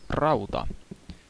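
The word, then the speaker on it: rauta: iron in Finnish is Raa in case you were wondering in case you were wondering and yes you do need to roll your RS if you want to say it properly which I've noticed a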